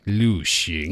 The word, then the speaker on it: 旅行: 旅行.